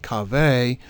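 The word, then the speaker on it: קָוֶה: But, unlike the first account, a second Hebrew word pronounced kaveh, Strong's number 6961, also meaning line or circumference,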